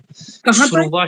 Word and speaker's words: स्रुवा: ये जो शब्द है, ये शब्द है, ये स के पैर में र है लगा हुआ, स्रुवा शब्द है, स्रुवा शब्द है, स्रुवा, ठीक है, स्रुवा है, ये तरह नहीं